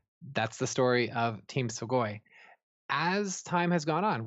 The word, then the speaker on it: Swagoin: I like Swagoin because it rhymes with groin.